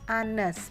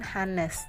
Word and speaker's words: honest: Bacanya Anes, bukan Hanes.